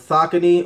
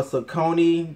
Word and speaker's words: Saucony: did it collab with soccer team or Saucony depending on how you want to say it I think I want to say it's pronounced sake Neto but for their own